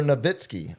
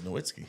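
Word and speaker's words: Nowitzki: It's like the uh it's the original Noitzky or Nitzky. We all eventually got to Noitzky, but it just took people a while. It was Noitzky. Waggler. It's the German V. The W. German W is a V is how we pronounce a Vitzki.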